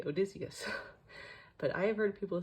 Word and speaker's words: Odysseus: Then we have Odysseus. The amount of times I've heard engines on YouTube mispronounce Odysseus, I'm like, clearly you all were